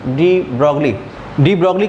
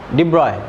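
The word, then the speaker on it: de Broglie: तो ये जो साइंटिस्ट थे डी ब्रॉगली का प्रोनाउंसिएशन डी ब्रॉय इस तरह से करते हैं, लेकिन अब हम लोग लिख रहे हैं डी ब्रॉगली तो वही यूज़ करेंगे, डी ब्रॉगली ही लिखेंगे उसको और वही बोलेंगे।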